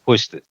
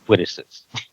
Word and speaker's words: Quistis: There was Quistis, and he would say Quitisis.